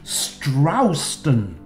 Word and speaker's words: Stroxton: Hello, chums, and welcome to the Church of All Saints in Strowston, Lincolnshire. Yep, let's get the pronunciation correct.